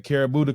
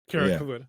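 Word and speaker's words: Kirifuda: Shaina kicks out and then Shaina catches her with the John, I might butcher it, the carabuda clutch. Is that how you say it, John? Carafuda.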